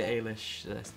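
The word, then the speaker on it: Eilis: please step this way next please your character Alish did I say that right you did and some people haven't pronounced it right at all so well done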